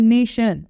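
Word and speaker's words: nation: अब आता है नेशन, भाई कैसे हो सकता है, ये TI है लेकिन प्रोनाउंस क्या कर रहे हैं हम लोग। तो आप समझ रहे हो SH वाला इशू, ठीक है।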